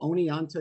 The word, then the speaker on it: Oneonta: Is it Oneonta? Does that sound right? Yes, that's right. Central Hotel, Oneonta, New York.